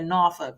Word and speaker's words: Norfolk: I'm a proud graduate of the best HBCU, Norfolk State University in Norfolk, Virginia. So you guys, if you don't want to go to Morehouse, you can always go to Norfolk, my good old Norfolk State, child.